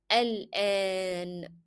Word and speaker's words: الآن: show you that here you need to lengthen the sounds of alif. So it is not a short a, no, it is a long a. So how to pronounce now in Arabic? It is al-an.